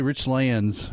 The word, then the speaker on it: Richlands: You just butchered the whole name. How do you say it? You would get shunned. How do you say it? Say Rich Lands. Well, what is it? Rich Lands, yes.